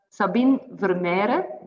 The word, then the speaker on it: Sabine: do you spell your name how do you pronounce your name it's uh sabine but that's that's a bit difficult in dutch